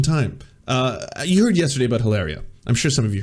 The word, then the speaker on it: Hilaria: Now, it would be weird enough if Hilaria, oh sorry, I mispronounced it, Hilaria.